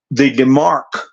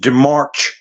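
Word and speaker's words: démarche: Then you have the demarque. Some people pronounce it demarche or demarque. It's a French term.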